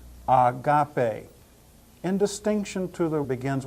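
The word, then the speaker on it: ἀγάπη: word means don't you Agape means love and you hear how I pronounce the word with a smooth smooth breathing Mark at the beginning of it Agape in distinction to the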